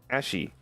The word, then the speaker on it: Ashie: My name is pronounced Ash with an E. Ashy.